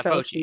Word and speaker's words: Fauci: I'm saying the name wrong. During COVID. You know, there is this bright spot. Fauci. Oh, yeah, Dr. Yeah, Fauci.